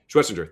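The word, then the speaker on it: Schwesinger: Schwestinger.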